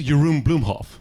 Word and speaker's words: Jeroen Bloemhoff: I love living in London, despite the fact that a lot of people here struggle pronouncing my name. Good, all right. Because my name is Jeroen Bloemhoff, right?